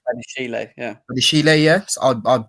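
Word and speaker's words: Badiashile: How do you pronounce his name? Badishele? Is it Badishele? Badishele, yeah.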